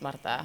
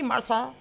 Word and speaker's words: Marta: It's Marta. Marta. Yeah, even people who know me like for like 10 years, they still hit me with, hey, Martha.